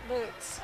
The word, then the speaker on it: Lutz: 6:14 to go, and thank you for the clarification on it's Lutz. Lutz. Yep, that is the correct pronunciation.